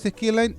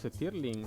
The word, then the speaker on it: Stirling: los motores Skirline sí se usan, es como parecido a la de solar. ¿No son los Stirling?